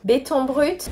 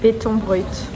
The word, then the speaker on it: béton brut: I don't speak French, so I'll let a native speaker pronounce the original phrase. Béton brut. Béton brut. Béton brut.